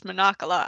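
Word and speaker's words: Mancala: one I've been falling in love with is Monocola. I love playing Monocola. Moncala! I showed you Or Moncala. Moncala? You're like, Sorry. yeah, that's how they pronounce it. I don't know, you can pronounce it both ways.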